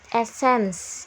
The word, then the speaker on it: Essence: Essence, gitu ya bacanya ya. Essence.